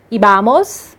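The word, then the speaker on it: íbamos: Nos outros, ibamos, tem um acento no i, por isso que a pronúncia é assim, ibais e iban.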